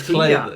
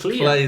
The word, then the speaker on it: Klei: Clay's really cool. Don't Starve. Oxygen Not Included. People always mispronounce their name though. Do they? Yeah, it's spelled weird, isn't it? Yes, KLEI. Yeah, it's Clay. It's Clay though.